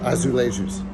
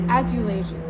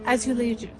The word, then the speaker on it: azulejos: Azulations. Azulations. Is that right? I think it's azulejos. It like sounds like Azulations. Azulations. Azulejos. I was thinking of like shoelaces. As shoelaces. Azulejos.